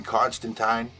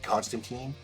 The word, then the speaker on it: Constantine: Constantine, but in the comic, he says Constantine. It rhymes with twine. That's how it's supposed to be pronounced.